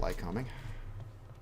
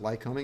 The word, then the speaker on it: Lycoming: right so Lycoming it's not got light coming by the way we pronounce it Lycoming you know how they